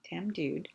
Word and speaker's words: Tamdhu: So, okay, so Tamdhu, you definitely pronounce that D. Tamdhu.